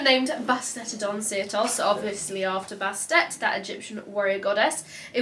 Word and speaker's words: Bastet: You know Egypt pronunciation Bastet. Bastet.